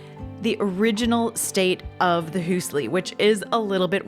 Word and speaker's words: Hüüsli: there was so much curiosity specifically about the Hüüsli. Okay, so now why do we call it the Hüüsli?